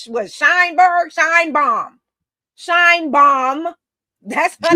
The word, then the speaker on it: Sheinbaum: But yes, her name is Sheinbaum, because to me it's obvious once I say her name. Her name is Sheinbaum.